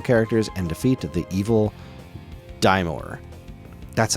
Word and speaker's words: Daimor: Explore, slay fearsome foes, acquire powerful items, discover secrets, assist colorful characters, and defeat the evil Daimor.